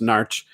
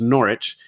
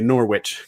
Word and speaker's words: Norwich: I was born in a place that if you're from there, if you're local, is pronounced Narch. If you're from England, it's pronounced Norwich. And if you're from farther away, they say Norwich because that's what it looks like.